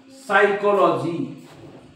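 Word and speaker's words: psychology: करत नाही म्हणून बघा तुम्ही असं म्हणतात का प सायकॉलॉजी नाही सायकॉलॉजी बघा हा पी सायलेंट आहे सायकॉलॉजी सायकोथेरपी तुम्ही असं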